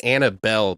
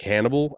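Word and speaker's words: Annable: it's 8nn a ble it's not Annabelle de L Hannibal yeah I guess like Hannibal I don't know she's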